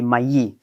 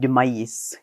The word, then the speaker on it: maïs: So, we don't pronounce the final S of corn, but the final F of oxen will remain, even in the plural.